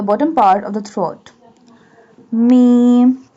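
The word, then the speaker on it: ميم: Mim. Mim pronounced from the dry part of both lips.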